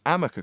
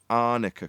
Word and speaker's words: Arnica: aware if she'd used Amica cream? Now, obviously she's never used this particular product, but the way it looks, Arnica cream, looks a bit like an M at a glance. She mispronounced it.